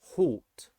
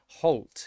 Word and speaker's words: halt: and all together so if you see alt and it is not two separate syllables then it would be all sound halt halt it would be an old town halt halt or salt alt so that's